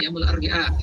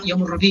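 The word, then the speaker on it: يوم الأربعاء: Anak-anak misalkan merekam yaumul arbi'a, kadang-kadang yaumul arbi'a itu salah yaumul rabi ya. Kadang-kadang karena Rabu itu atau hari Rabu itu ya Rabi ya, padahal yaumul arbi'a.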